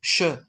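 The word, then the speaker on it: chat: is always श तो सी एच is always pronounced as श श ओके सो देर फोर अगर सी एच ए टी लिखा होगा तो how would you pronounce दैट in French शा शा ठीक है शा नाइस सिमिलरली अगर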